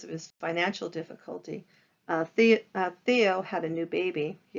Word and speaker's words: Theo: vincent van gogh and his brother theo teo if you prefer that pronunciation and because it was